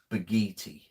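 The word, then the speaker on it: Bakithi: met him right so the K is pronounced as a g so it's beginning the I the H is silent so it's almost like it's b a g double e t y baghetti Camaro okay uh who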